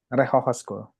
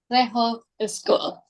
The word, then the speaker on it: Rechtshogeschool: Batavia Oke seru banget apa sih bacanya re reho school reho schol bahasa Belanda kan Eh iya bahasa Oke